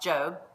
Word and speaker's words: Job: looks and spelled like job j.o.b but it's pronounced Joe and this book is by far one of